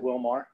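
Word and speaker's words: Willmar: Is it Wilmar? Yes. Okay. Okay, in Minnesota it's Wilmer, right? Yeah. Okay, yeah. So I saw somebody from Minnesota. They said you're just calling it wrong.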